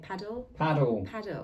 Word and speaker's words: padel: Paddle.